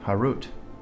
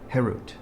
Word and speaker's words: Herut: Do not pronounce it carved Harut, but rather freedom, Herut, to show that they are freed from the angel of death."